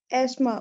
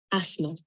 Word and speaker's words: asthma: Asthma. Asthma. Asthma या asthma. Okay. It is not TH is silent.